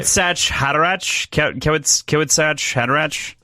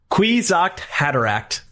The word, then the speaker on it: Kwisatz Haderach: Kawasaki Hadarach. If I can see it, I can say it. Kwisatz Haderach.